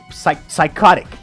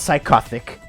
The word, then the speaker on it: psychotic: And psychotic is how you pronounce that word. Not psychopathic. Okay, the H is after the C, not the T.